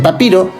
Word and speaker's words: Papier: El papiro es el antecedente de nuestro papel moderno. De hecho, en alemán se pronuncia papir. Esto en nuestro idioma se escribe como papier y es una forma